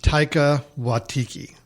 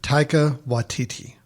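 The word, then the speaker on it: Taika Waititi: Oh, Grace, you're gonna have to help help me with the pronunciation of the director. Taika Watiti. Taika Watiki. Watiti. Yes. Taika Watiti.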